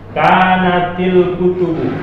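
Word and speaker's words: كانتِ الكتبُ: Nah, untuk membacanya yang lebih bagus, kalau bisa lebih bagus sekali baca. Kanatil kutubu, sama juga seperti ini. Kanatil. Kenapa begitu? Karena sebetulnya alif tak ada baris. Ini alif tak ada barisnya sebetulnya.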